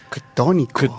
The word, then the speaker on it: ctónico: Ctónico. Ctónico, así se escribe C-T-O, ¿no?